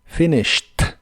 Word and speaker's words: finished: en inglés es finished las is de esta palabra son cortas y la Ed del final se pronuncia como una t finished finished el verbo oír en el